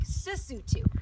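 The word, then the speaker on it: Sesotho: use it first - so the country's lassoo - and they speak Sousou - so just switch the letters the L and the s so interesting so dumela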